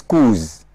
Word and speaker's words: coups: The plural form of coup is coups, right? The S is there, but phonetically, the S is not pronounced as Ed, it's pronounced as Z.